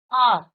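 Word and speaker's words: hour: है, जैसे यहाँ पे आर, अब हावर नहीं बोलते बच्चों, सारे बच्चे ध्यान दें यहाँ पे, दिस इज नॉट हार। यहाँ पे एच इज योर साइलेंट, ओ का यहाँ पे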